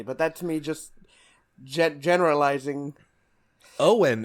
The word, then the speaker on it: Eoin: Owen is a good like I think Scottish or Irish name, but you have to spell it Eoin.